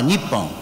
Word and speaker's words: Nippon: They can be read as Nihon or Nippon. So both pronunciations are officially allowed in Japan.